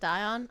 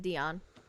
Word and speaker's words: Dion: His radiance requests that your highness maintain position here and it's pronounced Dion. I don't think his is. Yeah, it is Dion.